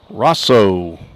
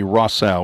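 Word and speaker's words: Rossow: Rosso, R-O-S-S-O-W. I think it might be Rossau. We had some help with some pronunciations by a media intern here, Aurora Reeves. I think she said Rossau as he looks at a called strike.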